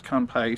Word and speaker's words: kanpai: truly unique beer kanbai i wouldn't say it like that but it has an exclamation point after it says kanpai so it's right sounding excited that's about